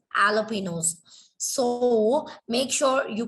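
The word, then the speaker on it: jalapeños: It is not jalapenos, it is jalapenos.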